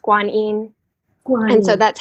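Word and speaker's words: Guanyin: Such a gift to us in this world, this energy of, in Chinese, her name is pronounced Kwan Yin. And so that's how I normally say her name, Kwan Yin.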